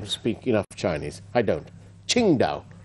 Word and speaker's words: Qingdao: do beg your pardon it's pronounced qin dao si win biotech company private limited thank you to sharon ranatunga who's who's not agreeing that i speak enough chinese i don't qingdao qingdao now what no what